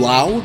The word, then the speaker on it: Lowe: The infielders are Brendan Lau, rhymes with now, Walls, Aranda, and Diaz.